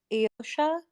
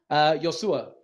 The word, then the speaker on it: Iosua: And is it Iosha? Yosua.